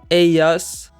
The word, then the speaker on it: ellas: Ellos, ellas. And again, in most accents, the double L sound is pronounced like the Y in the word yellow.